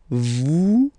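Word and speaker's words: vous: Vet. Same thing here. Notice that final S is not pronounced at.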